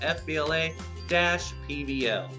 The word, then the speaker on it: FBLA-PBL: happening inside of Oklahoma FBLA-PBL. And yes, you do pronounce the dash. I don't know why, but them the rules.